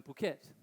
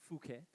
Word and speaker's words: Phuket: month of this year had higher occupancy than Phuket. Which is funny because a lot of the snowbirds that come from Europe can't pronounce Phuket, so they say "Phuket."